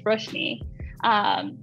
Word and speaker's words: Roshni: Like I'll correct them and be like, oh no, I'm sorry, it's Roshni.